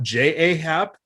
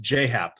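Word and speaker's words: J. A. Happ: And as I've learned in recent years, it's not J-A-Hap. It's how it's spelled. It's pronounced J-Hap, though, which is absolutely bizarre.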